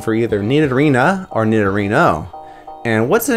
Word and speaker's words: Nidorino: out to be true nidorina and nidorino's names are nearly identical with the only difference being the feminine a sound at the end of nine arena and the masculine o sound at the end of nidorino because they resemble rhinos